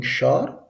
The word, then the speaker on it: ښار: Khar means city. Look, some people pronouncing Shar and some people pronouncing Khar. But the correct pronunciation is Khar.